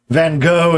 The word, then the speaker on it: Van Gogh: Van Gogh is, of course, what most Americans say. And that's a reasonable anglicization. You say it the proper Dutch way.